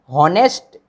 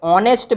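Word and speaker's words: honest: यहाँ एच क्या है आप लोगों का? साइलेंट है, ठीक है ना। हम लोगों को ये भी देखना है, ध्वनि पे ध्यान देना है हम लोगों को। तो यहाँ हॉनेस्ट नहीं पढ़ेंगे, ऐसे क्या पढ़ेंगे? ऑनेस्ट मैन।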